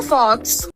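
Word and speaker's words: folks: Hello फॉक्स। इस word को हम फॉक्स प्रोनाउंस नहीं करते। इस वर्ड का करेक्ट प्रोनोन्सिएशन है फोक्स। जिसमें एल साइलेंट होता है।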